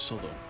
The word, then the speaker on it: Southwell: That's how it's spelled, but it's pronounced Southwell.